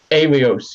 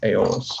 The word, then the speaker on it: Aeolus: Alios, yep. Brick McCraw, you got it. Yep. Alios. Aeolus, something. Aeolus. You're right, Freddie. Aeolus. That's how you pronounce it.